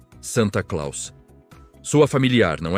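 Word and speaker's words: Sinterklaas: Em solo americano, a pronúncia holandesa Sinterclass foi sendo gradualmente anglicizada. adaptada ao idioma inglês, Sinterclass, Santa Claus, sua familiar, não é?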